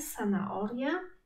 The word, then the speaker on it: zanahoria: na przykład w marchewce h jest nieme i go nie wymawiamy. Zanahoria.